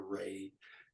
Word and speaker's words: Ra: discs the scientists and we would pronounce that today ra or Ray and on over you